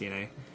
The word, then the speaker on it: DeNA: So it's pronounced DNA.